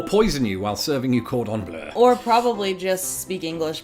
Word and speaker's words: cordon bleu: It it doesn't say bleu, like the color, like our logo. Well, it's based on French food. Yeah, I know. So, and then it's based on the French pronunciation, bleu.